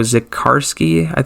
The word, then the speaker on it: Zikarsky: Of course, Rocco Zikarsky, that's how you say it, the second round pick from last year.